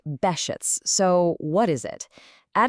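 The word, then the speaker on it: Behçet's: That's pronounced Behcet's.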